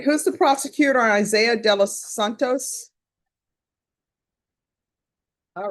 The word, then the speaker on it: Isaiah: How do you pronounce your first name? Isaiah. Isaiah, okay.